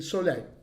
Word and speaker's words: Szalay: El libro se llama Turbulencias, es de David Salai, a ver, yo creo haber anotado acá cómo se pronunciaba. Sí, Solay, David Solay.